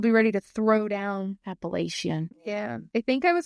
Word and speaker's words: Appalachia: People from the area pronounce it Appalachia. That is the correct pronunciation. But I know a lot of people elsewhere just say Appalachia because that's just kind of what it looks like.